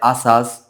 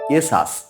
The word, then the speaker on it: ASUS: পোশাক তৈরি করে থাকে এস ইউএস অনেকে উচ্চারণ করে আসাস অনেকে উচ্চারণ করে আসুস আসলে এর সঠিক উচ্চারণ হবে এসাস এ এস ইউ এস এসাস তারপরের শব্দ এইচ ওয়াই